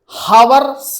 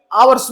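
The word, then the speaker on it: hours: time for टू आवर्स हार्स नहीं पढ़ेंगे आवर्स पढ़ेंगे क्योंकि ज हमारा साइलेंट रहता है इसी तरीके के हम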